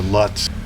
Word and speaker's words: Lotz: Or Lutz. There's so many ways to say the name, and I think Lotz is the way they say it here.